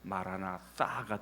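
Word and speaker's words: μαραναθα: 자, 여러분 마라나타 우리가 보통 많이 그렇게 얘기하는데 이제 정확한 발음을 하면은 헬라어로 하면은 마라나타가 됩니다. 자, 이 뜻이 무슨 뜻인가요?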